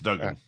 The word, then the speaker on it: Duggan: I don't actually know if it's pronounced Dugan or Duggan, but Dan, I'm going to go with Duggan. I think it's Duggan. Yeah, Dan Duggan covers the Giants for The Athletic. 2 G's, right?